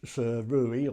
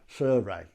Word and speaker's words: Sirui: i so really nice surui or that but apparently it's actually pronounced suray so what do we